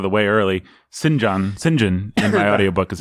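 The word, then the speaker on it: St John: this out of the way early cinge on Sinjin and the audiobook is how you pronounce the guy that you might think if you're at is pronounced Saint John has this word master spirit she called him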